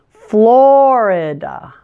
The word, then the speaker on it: Florida: wear pants Delaware Delaware Florida stress is on the first syllable and make sure to pronounce that I as a schwa just like we did in the word California notice it's Florida Florida Georgia stress the first